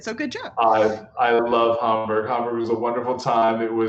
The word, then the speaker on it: Hamburg: Obviously, because you said Hamburg, you said it right. So obviously you spent some time there to properly pronounce it. So good job. I love Hamburg.